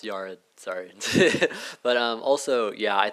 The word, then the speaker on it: Yared: First, it's pronounced Yared.